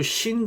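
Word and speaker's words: شين: 요 신 같은 경우에는 발음이 영어 sh, 그러니까 she하고 같습니다. she 발음, she 발음.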